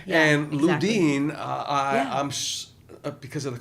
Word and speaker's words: Ludin: And Ludin I I'm because of the cough drops. I'm sure a lot of people just call you Luden.